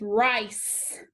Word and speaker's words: rice: first line we see i consonant e so a may crown above the eye cross out the silent e now look also what is after the c what letter e do you remember from yesterday when c has e after it it is a soft c so that c is going to say so i put my cedilla this word is rice okay soft c from